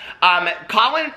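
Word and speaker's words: Khalen: He came out like, I think it's pronounced Colin. It's K-H-A-L-E-N.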